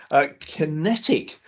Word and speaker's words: QinetiQ: Kinetic, and this is spelt just so if you're looking it up as an investor, it's QINETIQ, and ticker is QQ. 2.2 billion market cap, and the shares in Kinetic, and this is one